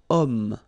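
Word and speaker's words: homme: this ash letter remember Ash is not pronounced okay so you've got the sound of O at the beginning of this word okay set so that's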